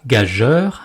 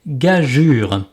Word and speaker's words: gageure: de cette chronique, car on ne dit pas gageur, mais gageure.